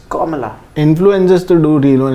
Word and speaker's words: Kamala: In her own words, the influencers there are doing reels on how to pronounce her name. Kamala. It's not some. So I saw one lady do. It's not Kamala Harris. It's Kamala.